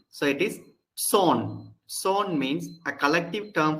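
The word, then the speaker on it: צאן: Number one, zone. Zone. It begins with the sade and the aleph is silent. So it is zone.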